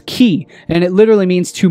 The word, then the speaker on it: chi: the ancient greek alphabet pronounced as as key and it literally means